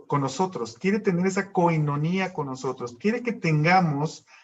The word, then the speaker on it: koinonía: comunión viene del griego koinonía se pronuncia con ironía y significa comunión significa